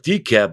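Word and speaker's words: DeKalb: She's got about 4 years on, is it DCAP? Where's that at, Jeff? They call it DCAP, but there's an L in there, and the L is silent.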